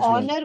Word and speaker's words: honor: And honor, H is silent.